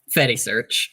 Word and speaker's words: Fedi-Search: How do you pronounce it? Fatty search.